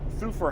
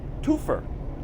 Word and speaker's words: Thufir: He called Thufir Hawat Toofer, and he kept calling him Toofer, and he kept saying it over and over again.